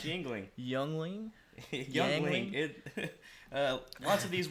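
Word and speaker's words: Yuengling: Don't let the U fool you. Yeah, It's pronounced Yingling.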